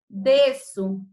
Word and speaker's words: desço: Desço. A palavra desço também, gente. Fica o S em uma sílaba, o C cedilha fica em outra. Mas a pronúncia é como se houvesse somente a letra S.